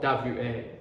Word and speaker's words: は: are right here is wa what again my mother love I love my It's whole same story, right? This ha is the grammar particle. That's why we pronounce w a haha d haha.